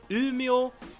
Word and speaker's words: Umeå: And the last thing I want to say is that we have a few cities Umeå Luleå Skellefteå and these are pronounced like this but I mean you have